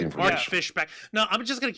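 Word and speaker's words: Fischbach: I thought it's pronounced Mark Fishbach. You know, like Buck.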